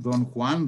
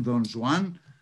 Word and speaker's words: Don Juan: major poem last poem don juan dons one however we wish to pronounce it depending on our castilian or non-castilian friends uh is never completed